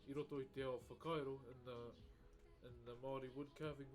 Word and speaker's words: Whakairo: Whakairo. You may see it in the stream title. So our WH is our F. So wha, kai, ro. So you roll your R a little bit, ro.